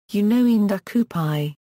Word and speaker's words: Ndakupai: Each vowel is pronounced separately even if they fall in succession. For example, Ndakupai is pronounced, Ndakupai.